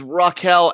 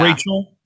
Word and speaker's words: Rachel: was um it was Raquel Ellering so yeah Rachel Rachel sorry I always with the rage because the a in the name it always kind of throws me off with pronunciation but uh Ella doesn't